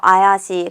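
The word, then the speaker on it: 怪しい: a 형용사 나왔습니다 자 요거 어떻게 있냐면 요 아이 아 씨 라고 읽어요 아야시 그래서 이상아 가수상 하다 라는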